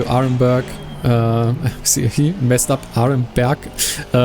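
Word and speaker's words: Aremberg: Arenberg is what it's actually pronounced in German, but yeah, as I said, I'm gonna slip up a lot of times.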